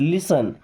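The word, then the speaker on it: listen: देखिए इसे लिसन नहीं पढ़ना है। यहां पे टी साइलेंट। लिसन लिसन मी्स होता है सुनो।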